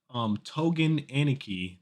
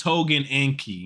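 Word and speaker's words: Tougen Anki: It's just you added an I. I did add an I. It's Togen Anki. Anki, yeah. Anki Ankai. I did add an extra I.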